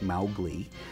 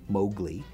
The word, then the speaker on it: Mowgli: mal Glee's brothers and he continued to pronounce it Mowgli as opposed to the Disney Mowgli because he felt that was that was really the intended Kipling pronunciation chuck was an experimenter